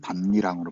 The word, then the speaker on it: 밭이랑: 앞말이 디귿이고 이게 모음으로 시작하니까 그래서 니은이 첨가되었어요. 근데 이제 또 니은이 디귿의 영향을 이렇게 영향을 줘서 결국은 반니랑으로 발음되는 거죠.